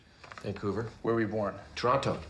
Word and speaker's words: Toronto: where are we born toronto toronto canadians don't pronounce the t some comatae guard is